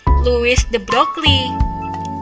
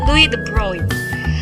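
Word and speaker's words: de Broglie: jari terent sementara itu broy ini cara bacanya Ya bukan Louis De brockley tapi Louis De broy yang pada tahun 1924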